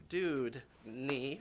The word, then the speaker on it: Dewdney: She was up here when we first introduced her, and she taught me how to say her name. She said it's Dewdney, right?